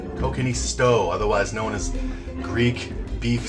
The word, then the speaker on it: kokkinisto: let me just double check i got the pronunciation right there yeah kokanee stove kokini stow otherwise known as greek beef stew with tomato